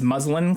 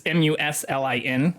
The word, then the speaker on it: muslin: And also thank you to Snow Peep, who had pointed out to me the correct way to pronounce it, but it's Muslin. I was calling it muslin. That is not correct.